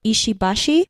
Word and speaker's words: Ishibashi: So you said it like pretty much perfectly, because it's supposed to be monosyllabic, no stress on the syllables.